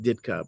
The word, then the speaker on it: Dyczka: Mike Ditka, his real name is Michael Dyczka. So it's probably pronounced Ditka, but he changed it.